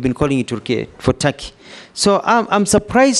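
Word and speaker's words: Türkiye: the comments made by it is not called tur it's tury it's only written Tak but it's pronounced Taki thank you I that is the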